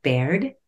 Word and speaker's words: Baird: today I am very excited to introduce Caroline Baird is that am I pronouncing your last name correctly you are correct